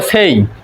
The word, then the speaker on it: say: SAY আমরা এটাকে সে বলি, কিন্তু এটার উচ্চারণ হবে সেই।